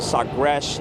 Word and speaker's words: Sagres: Now we're aboard the Portugal ship, the Sagres is how you say it in their language.